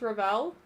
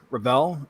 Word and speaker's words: Revell: wrong this whole time is it Ravel uh it's it's kind of both it's a bit like if you would ask Charlotte how do you pronounce his name he's fine with sort of either pronunciation uh uh a lot of people say rebel it's just like well I'll lean into that okay that's what I